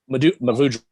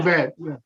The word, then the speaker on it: Mourvèdre: Mavudre. That one. Mourvèdre, yeah.